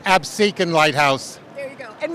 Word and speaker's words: Absecon: It's Absecon Lighthouse.